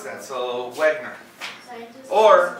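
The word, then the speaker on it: Wegener: So, Wegner. Or, Wagner? or if you're German, it's Wegner. Because the W gets a V sound.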